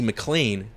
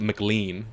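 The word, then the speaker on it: MacLean: sorry 219 years later Vault 33 dweller Lucy mlan it's mlan right mlan M it's cuz they have it weird here it's like I want to read it like McLean yeah yeah that's how it's spelled weird you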